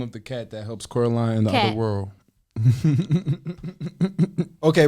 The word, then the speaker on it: Coraline: What was the What was the first name for Caroline's cat? Coraline.